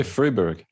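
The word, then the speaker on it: Fribourg: the university of freiburg fybrog how do you say that we say freeburg freeburg there we go it's not german in switzerland he served previously as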